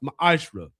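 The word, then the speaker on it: מעשר: In Malachi 3 8-10 means 10th in the Hebrew is pronounced mahashra.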